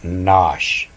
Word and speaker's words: nosh: A light meal snack you might pronounce that Nosh and Nosh some of